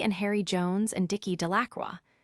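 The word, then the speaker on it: Delacroix: Bobby and Harry Jones and Dicky Dacqua. The villagers pronounced this name Delacroy eventually made a great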